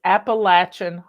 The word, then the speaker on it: Appalachia: peta's YouTube channel is Appalachian Homestead and she pronounce it Apple app Appalachia but you'll find her